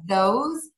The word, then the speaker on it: those: hear people mispronounce are those these and because those these cause because those are all pronounced with the z sound at the end yeah and those are